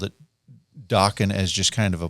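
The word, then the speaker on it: Dokken: So he just called it dockan as just kind of a placeholder. Right. Right. He's like it rhymes with rocking.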